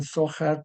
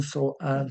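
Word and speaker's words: Zohar: Algunos pronuncian Sojar por el H y otros pronuncian Soar sin H.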